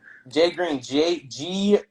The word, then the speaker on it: JRGXN: Jay Green. JRGXN. Spelled like that, not the other way.